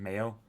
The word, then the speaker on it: Mayo: gway and below sgo the name is from the Irish May ma yell pronunciation Mayo much like the condiment croan is a mountain